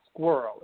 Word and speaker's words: Squirl: If anyone writes a story that has locations in it, there's a company called Squirrel. It's spelled SQUIRL, and it is a